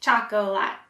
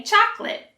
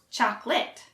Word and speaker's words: chocolate: you say it chocolatt it looks like there are three syllables but we actually only pronounce two so we don't say choco a lot we say chocolate and for the last